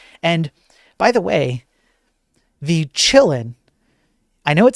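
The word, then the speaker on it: Qilin: And by the way, the Chillin, I know it says Q L I N here, but it's it's a Chinese ransomware group. And so the Q is actually you pronounce it as like chi.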